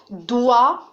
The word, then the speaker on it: doigt: Alors maintenant, regardez la place du son wa, doigt. Alors, la place du son wa ici est à la fin de la syllabe parce que GT ne se prononce pas.